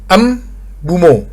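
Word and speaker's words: Mbeumo: Ternyata dia bilangnya ternyata yang benar adalah em bumo gitu. Jadi-nya diduluin baru buumo. Jadi Brian Bumo gitu bacanya.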